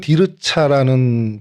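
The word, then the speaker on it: תרצה: 히브리 발음으로는 디르차라는 발음이 되고요.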